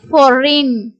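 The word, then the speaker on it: foreign: அப்படிங்கிற வேர்டுல ஜி வந்து சைலெண்டா வரும் இதை எப்படி உச்சரிப்போம்னா சை இன் சைன் ஜி வந்து சைலென்ட் அதே மாதிரி ஃபாரின் ஃபாரின் இங்கேயும் வந்து ஜி சைலென்ட் கேம்பெயின் பேய் என்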